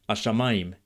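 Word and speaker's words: השמים: Native speakers of Modern Hebrew these days seem to make the hey sound silent or very subtle in everyday speech. So, hashshamayim ends up being like ashshamayim, and et hashshamayim ends up sounding like tashshamayim.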